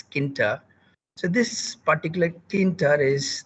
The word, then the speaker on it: Tkinter: at what is uh tk enter or kinta t silent if i keep put t as silent because we can pronounce it as kinta so this particular thinter